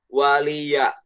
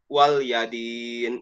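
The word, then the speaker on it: وَلِيَ دِينِ: dia tidak memperhatikan ayatnya, kebanyakan wal yadin, bukan wali ya, wal dibacanya wal yadin, padahal ini seharusnya wali yadin ya.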